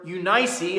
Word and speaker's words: Eunice: behind this great man his mother eunice or unice as some people say it should be pronounced she had the same